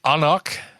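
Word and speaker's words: anCnoc: And this is the Anoch, which is despite how it's pronounced spelled A N C N O C 12ear single malt scotch.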